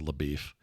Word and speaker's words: LaBeef: I think it may be spelled slightly different, but it pronounces LaBeef.